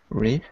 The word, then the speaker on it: wreath: So when we use it as a noun, we pronounce it like wreath, th, unvoiced.